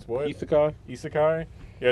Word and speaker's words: Isekai: always pronounce it wrong. I say Iseki, but it's what? Isekai.